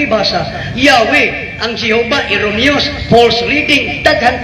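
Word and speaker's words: Yahweh: Lord is a substitute to theat to the pronunciation of theat according to the references ng K ibasa yahwe ang Jehova false reading daghan pa ang Lord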